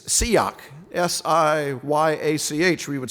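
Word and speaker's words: שיח: It's siyak, S-I-Y-A-C-H, we would spell it in English.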